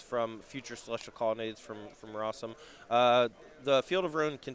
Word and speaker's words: Rosum: That is Collins Mullen, who is ahead right now over Jonathan Rosum, which of course rhymes with awesome.